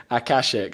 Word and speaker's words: Akashic: I was like, how do I pronounce it? And I had someone speaking to me on YouTube saying Akashic, so I've got that written down.